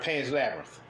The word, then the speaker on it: Pan's Labyrinth: Pan's Labyrinth.